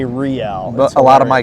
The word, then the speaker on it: Reale: Reale. Reale, not real, Reale, because there's a historic roadway that goes throughout Southern California called El Camino Real.